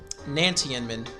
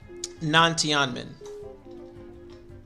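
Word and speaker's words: Nantianmen: up okay i'm sorry it's uh it's actually non-tianmin it's actually how it's pronounced in leeway it's actually non tiamin non tianmin my bad thank you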